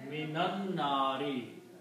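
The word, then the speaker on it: مِنَ النَّارِ: And min is a harf jar. It changes this dhamma again to a kasra. So notice there is a minan nari in the Quran.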